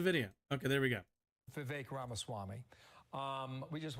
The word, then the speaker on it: Vivek: okay there we go Vivek Rama Swami um we just want to play oh yeah I'm sorry his name rhymes with cake I should have known the vague chromosome this way with